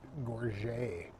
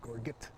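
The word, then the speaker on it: gorget: see that flash of his red gore, I guess it's called. I always said gorgget, but I guess I'm not great at pronouncing French armor.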